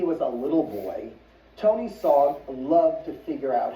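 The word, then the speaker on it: Sarg: So, here's a picture of Anthony Tony Frederick Sogg. SOG rhymes with Augg.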